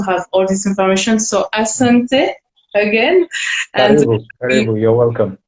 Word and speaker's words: asante: You say asante.